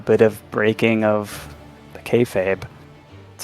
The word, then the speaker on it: kayfabe: at least a bit of breaking of the kayfabe. That's how you pronounce it, right? Yeah, kayfabe.